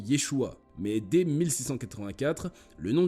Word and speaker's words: Yeshua: nom du Fils de Dieu s'écrivait et se prononcer Yeshua mais dès 1684 le nom du Fils de